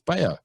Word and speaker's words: Bello: And as do most, Aussies and a lot of Americans and whatever, Cabrera Bello, they pronounce the double L, but it's Bello.